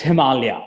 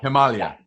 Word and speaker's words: Himalaya: And it's pronounced Himalaya, not Himalaya, correct? Correct. It's Himalaya. Himalaya.